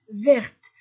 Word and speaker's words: vertes: bleu pluriel les livres sont ver avec un S ver les robes sont vertes vertes je prononce le T attention il y a